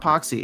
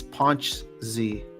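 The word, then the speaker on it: Pączki: All right, well, it's not Poxy, it's Ponch Z. Polish, with a silent with a invisible N.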